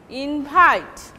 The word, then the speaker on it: invite: This is invite. Okay. The first syllable will be secondary stress, but the second syllable will take primary stress, invite. But this is verb.